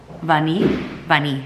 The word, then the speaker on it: Vanille: Vanille, I think it's pronounced in French.